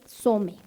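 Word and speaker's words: צוֹם: Según la concordancia Strong, aquí ya se se escribe diferente, ya no es ya no es con as, sino es som. Y tiene que ver con ayuno. Ayunamos ayunos un rápido. Se se dice some.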